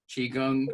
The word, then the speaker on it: Qigong: So it's just the same as Kung, like Kung Fu, Qigong, Qigong.